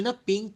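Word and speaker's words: nip: আমরা বলি না পিঙ্ক কালার আমার খুব প্রিয়। এটা পিংক না। এটার সঠিক উচ্চারণটা হবে ফিংক।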